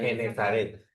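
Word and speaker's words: Genesaret: Terminada la travesía, llegaron a tierra en, ¿cómo se pronuncia? Genezaret.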